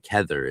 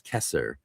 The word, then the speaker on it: Kether: Like Kether is not Kether, it's Kesser in one of them, not Kether.